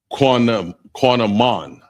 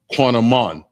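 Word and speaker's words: קינמון: The next one is cinnamon, and it's pronounced quanamon, and that's spelled Q-A-N-A-M-A-N. That's Q-A-N-A-M-A-N, and that's cinnamon, and it's pronounced quanamon.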